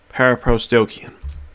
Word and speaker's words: paraprosdokian: a big word so let's break it down into syllables and pronounce it para pros dokyun para pros dokyun that is the word so para pros dokyun